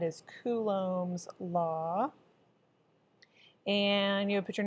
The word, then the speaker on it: Coulomb: going to talk about Coulomb's law that's pronounced Coulomb like ku like you're a pigeon Lum like it doesn't even have a B in it Coulomb Coulomb's law and